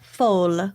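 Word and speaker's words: folle: Fall F or FY blanch how would you pronounce f o l l e in French uh full full full Blan it's the feminine derivative of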